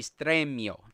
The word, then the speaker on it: Stremio: so it's it's basically stremio st estramio yeah that's right if if you're pronouncing it in spanish it would be straight mio but it's a great